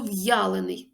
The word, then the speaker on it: в'ялений: а в другому Ні тому слово в'ялений пишемо з апострофом тут є Роздільна вимова буква я позначає два звуки й а а слово бу